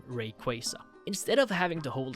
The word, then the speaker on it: Rayquaza: talking of course about Mega Rayquaza yes that's how you say it name Rayquaza instead of having to